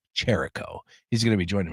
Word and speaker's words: Chirico: right because he said it was like the wrestler Jericho but it's with a ch so I believe it's Jericho.